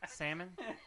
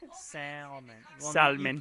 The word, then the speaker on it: salmon: around yep salmon oh I don't pronounce the L in salmon slamming slammin salmon salmon you just don't pronounce